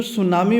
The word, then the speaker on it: tsunami: आप गौर करेंगे तो जो सुनामी वर्ड है इस सुनामी में टी साइलेंट रहता है यानी टी का हम उच्चारण नहीं करेंगे ठीक है